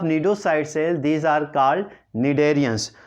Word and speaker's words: cnidarians: सी silent है, निडेरियंस।